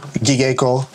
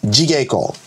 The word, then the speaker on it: jigo: go like this but there's no soft G in Japanese G in Japanese is always a hard G okay so there is no gigo it's jigo okay well I'm going to